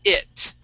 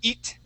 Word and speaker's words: it: you is the word it. Okay. Now here you had been using the a Portuguese I sound, saying eat. Okay. Remember, we want to use a short I and say it.